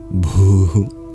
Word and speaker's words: Bhu: Also the H in Bhu and Bhumyai. It is no mere silent letter, but adds an aspirated quality to the B sound.